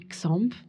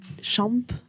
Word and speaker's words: Xamp: Alors nous, on dit Xamp. Xamp. En fait, toutes les prononciations sont valables parce que en Catalogne, on dirait champ. Parce que le X se prononce ch.